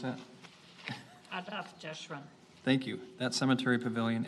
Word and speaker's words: Adath Jeshurun: Do you know how to pronounce that? Adath Jeshurun.